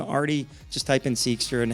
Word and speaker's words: Ardy: can find me on LinkedIn they spelled my name wrong it's Ariane but first name Artie just type in seekster and happy to connect